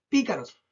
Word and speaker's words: pícaros: Veamos pícaros. Pícaros. Tres sílabas de nuevo.